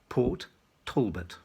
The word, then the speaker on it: Port Talbot: also being directed to pronounce the name of the welsh steelworks town in the correct english way as two distinct words port talbot fiona bruce has been